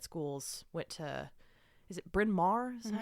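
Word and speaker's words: Bryn Mawr: Went to is it Binmar? Is that how you pronounce that? Yes, Binmar.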